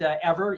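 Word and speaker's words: Eivor: a little play on the word ever it's pronounced ever even though it's felt EI VOR so so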